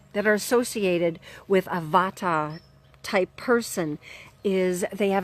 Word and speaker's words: Vata: first type of person is what's called the Vata person and that spelled V like Victor a